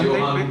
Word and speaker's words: Johann: But yeah, that's how it's pronounced, Johann, apparently.